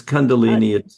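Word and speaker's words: Kundalini: But aside from that, you mentioned, let me see if I'm pronouncing this correctly. Condolini. Is that correct? Yeah, it's Condolini.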